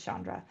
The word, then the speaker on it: Chandra: about my pronunciation but it is a soft she's chandra um whoever was asking